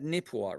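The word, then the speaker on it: Neepawa: And uh you pronounced that Nipua, right?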